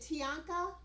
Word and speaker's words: Tianka: i think it is is it tianka is that how you say her name yes yes i said it right go me